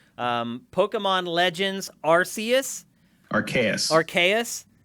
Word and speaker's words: Arceus: pokemon legends arceus rks archaius aka that's a hard c believe it or not